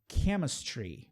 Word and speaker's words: chemistry: Muitas vezes o CH vai ter esse som também. Christmas, chemistry, né?